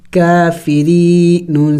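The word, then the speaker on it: كافرين: वक़फ़ आयात है तो वक़फ़ करेंगे और वक़फ़ में हमने इस नून को साइलेंट करना होगा, यानी साकिन करना होगा, काफिरीन। आखिर में नून की आवाज़ निकलनी चाहिए, काफिरीन।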